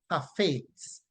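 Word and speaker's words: חפץ: is transliterated to C-H-A-P-H-E-T-S, and it is pronounced hafetz, hafetz, hafetz, hafetz, right?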